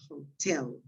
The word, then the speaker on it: hotel: okay the other is hotel is well the stress is the same as in spanish it's not the first one so the pronunciation of this is hotel yeah and when you